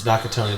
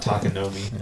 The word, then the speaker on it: Nakatomi: It's Nakatomi Plaza. Jackson said it wrong just now. It's not Takanomi.